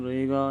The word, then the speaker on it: ऋ: व्यंजन ऋ होता है अपन कैसे बोलते ऋण को ऋण री री ऋण बोलते हैं दोस्तो ठीक है दोस्तों